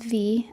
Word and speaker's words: Vi: Yeah, her name is V. It's spelled V-I.